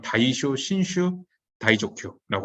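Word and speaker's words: 大正新脩大蔵経: 일본 그 발음으로는 다이쇼 신슈 다이조큐라고 합니다.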